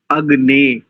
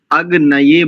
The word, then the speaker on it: अग्ने: आवश्यकता नहीं रखता देखिए अगने कई लोग इसका अशुद्ध उच्चारण करते अग नय बोलते हैं अग नय यहां पर य नहीं है अगन बोलेंगे अगन शब्द चतुर्थी विभक्ति